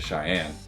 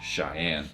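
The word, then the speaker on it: Shayan: Um I just met a guy recently named Cheyenne.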